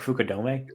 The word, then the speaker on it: Fukudome: Isn't it pronounced like Fukudome?